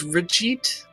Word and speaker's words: Brigitte: Would you say her name was Brigitte? It's Bridget, but like more French, so Brigitte.